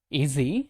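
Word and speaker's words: is he: ஈஸி, இந்த இஸ் ஹி அப்படிங்கிறத ஈஸி அப்படின்னு உச்சரிங்க. அவுட் ஆஃப் ஹிஸ் அப்படிங்கிறத அவுட் ஆஃப் ஹிஸ் அப்படின்னு சேர்த்து உச்சரிங்க.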